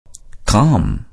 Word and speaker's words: calm: Calm. இச்சொல்லின் நடுவில் உள்ள L என்ற எழுத்து silent letter.